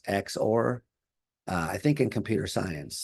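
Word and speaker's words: XOR: So you can say X, and this is sometimes pronounced X or.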